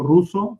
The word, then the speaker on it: Russo: So we have another one from Roberto Russo from Colombia, but he's living in Dominican Republic. That name you pronounce. Roll with the R.